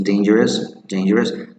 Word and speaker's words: dangerous: The letter U, the U never sounds there, so it's dangerous. The correct pronunciation is dangerous.